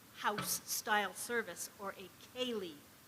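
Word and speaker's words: ceilidh: style service or a Kaylee that's the right pronunciation or so I've heard um announcements do I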